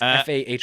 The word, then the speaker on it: Fahy: My first option was Megan, I believe it's pronounced Fahey. Did you see season 2 of White Lotus? It's Fahy. Oh, Megan.